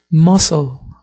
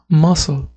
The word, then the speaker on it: muscle: vale por ejemplo aquí la palabra músculo no es mcle mcle no aquí la c es muda entonces muscle muscle vale vamos con las